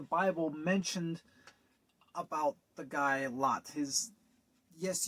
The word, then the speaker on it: Lot: Now, there is not a whole lot in the Bible mentioned about the guy Lot. Yes, you are hearing that name right. It's spelled L-O-T, Lot.